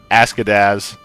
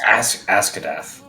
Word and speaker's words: Askadath: Askadaz. Is that her name? Askadaz. I believe it's Askadath. Ask it out. Askadath? Yeah, because remember, the Yes. Z is pronounced like a... Boy, howdy, Askadath.